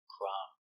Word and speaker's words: crumb: Crumb.